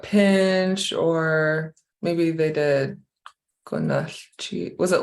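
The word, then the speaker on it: Gunalchéesh: or maybe they did Gunalchish. Was it like this? Yeah. Gunalchish. Yeah, I don't spell it that way, but if I was reading it, I would say Gunalchish.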